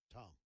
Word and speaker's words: Tom: Tom.